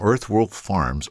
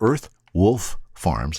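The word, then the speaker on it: Earthwolf Farms: came home with from earth world farms earth wolf farms let me say it correctly i came home with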